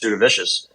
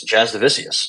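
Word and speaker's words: Jasudavicius: wrong this entire time I've been saying just Do The Vicious it's Jazz divisius so there we go for that um referee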